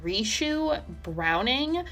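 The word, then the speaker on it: Ricou Browning: You had Ben Chapman, who played the creature on land, and then I think it's pronounced Rishu Browning was the underwater creature.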